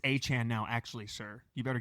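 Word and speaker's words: Achane: Hey, it's Achan now.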